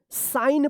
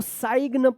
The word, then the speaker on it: sign: तो कल के रूल्स में बताया गया था कि अगर एन से पहले अगर जी आता है तो जी भी क्या रहेगा? साइलेंट होगा। याद रखना, एन से पहले अगर के आता है तो के साइलेंट होगा, और एन से पहले जी आता है तो जी भी साइलेंट होगा। तो इसको क्या पढ़ेंगे? साइन पढ़ेंगे। इसको साइग्न मत पढ़िएगा, क्या पढ़ेंगे? इसको साइन पढ़ा जाएगा, साइन।